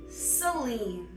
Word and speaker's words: Celine: Celine. Like Celine Dion, but spelled wrong.